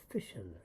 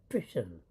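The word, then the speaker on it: fission: So you can look up the difference between nuclear fusion and nuclear fishision. F I S I O N. Fishing. Nuclear fishision. Like you're out there in the lake fishing.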